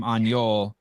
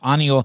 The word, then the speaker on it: Aniol: say his name because I was calling him anjol and it's um you're getting better every time okay I know it's really really difficult for you uh annual yeah I'm an American people to say my name properly yeah but I want it annual and then it's oh yeah exactly annual yeah yeah you got this